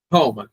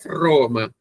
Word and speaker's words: Roma: Lembrando que o R tem sempre som re, né? Um som vibrado. Nunca Roma. Então é Roma.